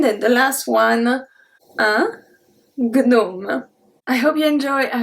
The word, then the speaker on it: gnome: The first one is un gnome.